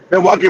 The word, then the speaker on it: Milwaukee: 50% in Chicago and Miloki Miloki Gangster if I'm pronouncing correct. Yeah. No, that's you got it right. Milwaukee, Wisconsin.